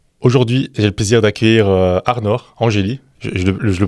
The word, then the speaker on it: Arnor Angeli: Aujourd'hui, j'ai le plaisir d'accueillir Arnor Angeli. Je le prononce bien ?